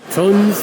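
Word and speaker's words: Tunze: Tuns, we're here. I've been saying Tunzi. I've been saying it wrong for basically most of my life.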